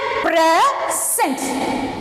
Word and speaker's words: present: Okay, see here, as a noun the word is stressed on the first syllable. இதை நான் noun எடுத்தேன்னா, presentங்கிற word noun எடுக்கும்போது firstல தான் நான் syllable stress பண்ணணும். Okay, this is the rule. And see next one, verb. As a verb, the word is stressed on the second syllable.